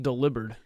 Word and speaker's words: Delibird: It's actually pronounced delivered. I found out.